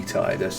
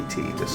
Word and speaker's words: Tidus: um and um and Titus and and it will be Tidus. It will not be Titus. I don't care like how it's pronounced in Japan. In the West, it's Titus.